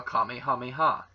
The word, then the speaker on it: Kamehameha: And yes, I say it as Kamehameha, or Kamehameha, as it would be properly pronounced.